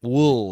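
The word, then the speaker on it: Wuhl: Uh, Ule. Uh, he's in Batman Knox Arus. Robert Wool. Robert Wool. Wool.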